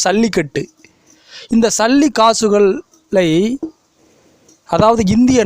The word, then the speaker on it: சல்லிக்கட்டு: இந்த ஜல்லிக்கட்டு என்பதை வடமொழி ஜா என்று உச்சரிக்காமல் சா என்று உச்சரிக்க வேண்டும், சல்லிக்கட்டு.